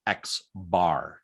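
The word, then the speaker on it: x̄: sample the mean is this character and that's pronounced x bar it's the letter x with a bar over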